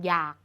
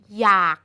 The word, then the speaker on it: อยาก: คะ และ สุด ท้าย อยาก มัน เขียน ด้วย ออ ก็ จริง แต่ เรา อ่าน ออก เสียง เหมือน มี ห นำ มัน จึง จัด เป็น